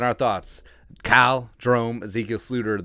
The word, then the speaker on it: Sloter: Cal Jerome Ezekiel Sluter, the Dutch pronunciation, made his USFL debut on Sunday.